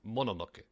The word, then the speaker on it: Mononoke: First of all, it's pronounced Mononoke.